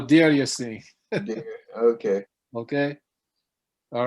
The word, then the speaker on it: Deir Yassin: I thought it was Dar Yassin. No, Deir Yassin.